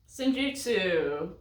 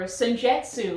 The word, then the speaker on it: Senjutsu: Senjutsu, or Senjetsu, as a lot of people seem to like to pronounce.